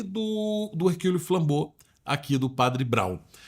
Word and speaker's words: Hercule Flambeau: Muita gente fala Hércules Flambeau, né? Então tá errado, né? Mas a pronúncia é Hercule Flambeau.